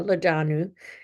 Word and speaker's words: Lodonou: Today I'm thrilled to introduce Francois Leadanu, the president and lency insurance agent at Senior Health Stop LLC.